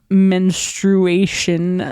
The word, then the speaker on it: menstruation: okay folks periods that's it it's happening it's pronounced menstruation thank you I learned I cannot spell menstration